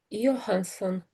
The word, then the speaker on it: Johansson: At the beginning, it sounded like Air Hansen, but it might have been that you said Rye, and perhaps you just ran these two words together.